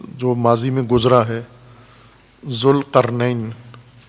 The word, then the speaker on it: ذوالقرنین: ذوالقرنین، ذوالقرنین درست تلفظ کیا کریں.